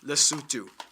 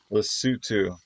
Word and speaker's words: Lesotho: man by the way this country is pronounced lesotho lesutu that was close not really i've heard it pronounced both ways anyway let's find out